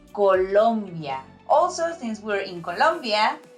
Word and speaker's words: Colombia: Colombia, okay? Not Columbia.